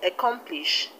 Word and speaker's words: accomplish: is on t-i-n-t and the word accomplish the stress is on calm c o m i hope that's clear